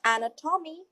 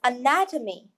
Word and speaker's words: anatomy: will go along with it it is not an ax Tommy it is anatomy the correct pronunciation is anatomy look at the Pinet node